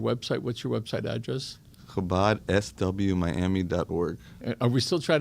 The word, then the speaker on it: Chabad: So for the people that don't know, you don't pronounce the C unless you're Chabad, all right?